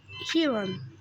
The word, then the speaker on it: Aeron: Mais en fait, je crois que je vais l'appeler Asher et Hiron. Hiron. Et comment ça s'écrit ce Hiron?